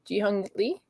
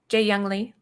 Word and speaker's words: Jeehyung Lee: Okay, so how do you say his name again? Because I always, in my head, I go JEEHYUNG Lee. That was good. JEEHYUNG Lee.